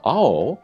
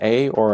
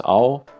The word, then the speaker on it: Ao: Okay, this is pronounced ao. Anytime you see an A or an O, it's going to have those sounds, ao.